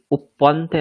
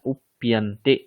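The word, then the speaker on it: उप्यन्ते: উপ্পন্তে নয়, উপ্যন্তে। উৎপন্তে। হুম। কারণ পরে প আর ইয়া দুটো মিলে প্যা, উপ্যন্তে। ঠিক আছে, যদি উচ্চারণ করতে অসুবিধা হয় উপ ইয়ান্তে দুটি একটু স্পিডে পড়ুন, দেখবেন একসঙ্গে হয়ে যাবে উপ্যন্তে।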